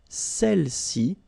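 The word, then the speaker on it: celles-ci: Feminine plural, celle-ci. Okay, don't pronounce the final S.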